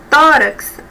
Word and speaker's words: tórax: dores no tórax Observe tórax é a sílaba mais forte a penúltima sílaba e a palavra ela